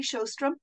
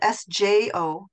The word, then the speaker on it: Sjostrom: And my second name is spelled Sjostrom. So yeah. It's easy to remember the vowels because they're two O's. Yes. And if you imagine that the J sounds like an H, then the rest of